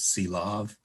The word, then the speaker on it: Sylow: And as a little grammatical aside, in the US, it's common to pronounce his name Sylow, but I've heard it argued that in Norwegian, the more appropriate pronunciation is Sylav instead of Sylow.